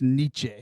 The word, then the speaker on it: Nietzsche: also don't understand how it's spelled how it's pronounced niche n-i-e-t-z-s-c-h-e Niche it's like that's why I failed